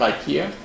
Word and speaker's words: IKEA: So, how many of you have ever heard of IKEA? It's a Swedish furniture store. There's one in Whitlam and one in Richmond. And they're based out of Sweden, Stockholm. Except in Sweden they call it IKEA, but it's a pronunciation difference.